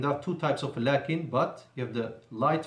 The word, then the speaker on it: لكن: ولكن, لكن means but, and there is an alif between the lam and the kaf, pronounced but not written. ولكن, and there are two types of لكن, but you have the